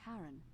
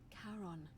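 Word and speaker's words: Charon: figure with a coin as you described it pronunciation is a little off the name you heard wasn't Karen it was c h a r o n as in Caron the ferryman of the Dead yeah there we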